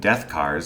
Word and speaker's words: DethKarz: the aptly named death cars spelt with a k and missing the a is a futuristic combat